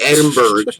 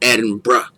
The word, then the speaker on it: Edinburgh: It says it's spelled like Edinburgh, but they say it like Edinburgh.